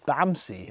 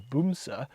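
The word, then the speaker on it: Bamse: vehicles ever it's called bamsi um in case anyone wondered b-a-m-s-e um actually I think the Norwegian pronunciation is boomsa but it means teddy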